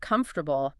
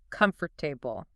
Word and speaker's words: comfortable: It looks like it should be 4 distinct syllables. Comfortable. But if you say comfortable, you sound very rigid.